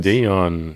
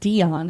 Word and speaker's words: Dion: It's not Dion, it's Dion. Okay. Selene Dion. What am I saying wrong? That's not wrong. Right. It's the emphasis on the wrong syllable.